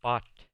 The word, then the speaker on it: bought: La UGH en medio de la palabra no se pronuncia. Nomás se pronuncia bought, que es el verbo comprar en el pasado.